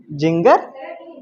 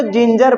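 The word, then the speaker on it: ginger: ना ध्यान से समझ जी आई एन जीई आर ये क्या लिखा है जिंगर इसको जिंजर पढ़ेंगे क्या क्या पढ़ेंगे यहां पर देखो जी के बाद आई है यहां पर जी के बाद क्या है ई है तो दोनों को ज पढ़ेंगे जिंजर क्या पढ़ेंगे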